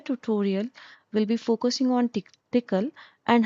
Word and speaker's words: Tcl: PCL is pronounced at as thickle and it is backbone of many EDA tools and widely widely used in semiconductor industry. The entire tutorial will be focusing on tickle and how we are use we are going